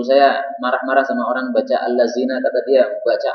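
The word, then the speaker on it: الذين: Sebenarnya bukan alat zina dia bacanya, allazina ya, salah itu.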